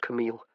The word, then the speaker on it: Camille: He gave her name its proper French pronunciation, eel at the end instead of ill as her family tended to do.